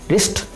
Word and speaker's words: wrist: रिस्ट, WRIST रेस्ट, तो यहाँ पे भी W का कोई साउंड नहीं आ रहा है।